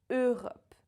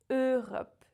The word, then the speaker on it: Europe: There's no E in this word. Europe. The French E, and that's it. Europe. And the same goes for all the words in this family. Euro, Européen, Europe. Never E in there.